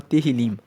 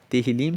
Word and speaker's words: Tehillim: Vão lembrando que o livro de Salmos, no hebraico, se chama Tehillim. Tehillim se escreve T-E-H-I-L-I-M e Tehillim quer dizer louvores.